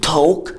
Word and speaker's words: talk: زي مثلا talk together. يعني ايه talk together؟ يعني يتحدثون معا يتحدثون معا. اسمها talk وما تنطقش ال L عشان ال AL بتدي صوت ال O زي pole small.